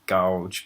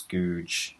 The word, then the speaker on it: Gouge: the way it's spelled, people would think it's gouge, but it's googe.